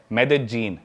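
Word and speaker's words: Medellín: उसकी एक सिटी है मेदजीन स्पेलिंग में उसमें डबल एल आता है मेदलीन होता है लेकिन कोलंबियन स्पैनिश में ल को ज बोलते हैं तो मेदजीन वो शायद उसकी मेन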